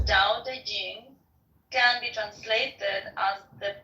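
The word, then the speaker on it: Te Ching: is his best reward da Ching pronounced more or less da Jing can be translated as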